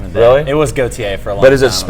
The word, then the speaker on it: Gautier: Yeah, like Gautier.